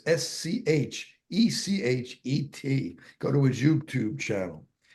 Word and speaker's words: Schechet: It's Schechet.